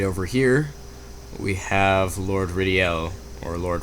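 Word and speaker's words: Rydell: obtained anyway right over here we have Lord ridel or Lord ryel I always call him Lord ryel because that's how it looks but it's apparently pronounced ridel so it's locked can we talk to him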